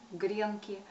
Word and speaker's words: гренки: быть уже посовещались и приняли такую норму с ударением на первый слог гренки и в единственном числе